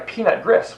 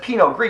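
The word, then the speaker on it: Pinot Gris: if I order well I would like a peanut Gris well no that's Pino gree you pronounce it wrong and they hand you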